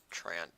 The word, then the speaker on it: Treant: and then we'll push our other Trant down here treant I know it's Trent but hey I can have a little fun with mispronunciations sometimes right Oh perfect what a